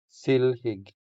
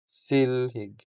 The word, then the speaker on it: silhig: silhig The stress is on the first syllable, making the first E longer than the second E. So, we say silhig silhig silhig The next word